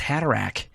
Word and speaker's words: Haderach: I don't think in the movie it's pronounced Haderach.